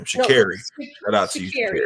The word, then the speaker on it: Sha'Carri: Sha'carri. Shout out to you. Sha'carri. It's very easy. It's simple. It's just spelled with the C, but it sounds like a K.